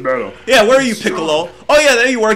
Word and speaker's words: Piccolo: best sand out of us oh come here pickle hey who did that okay oh the burning auras your face with me piccolo oh snap did it just pronounce his name